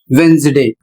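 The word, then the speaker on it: Wednesday: तो मुख्य कारण है एन के बाद डी आया है और जब कभी एन के बाद डी आता है तो डी साइलेंट हो जाता है।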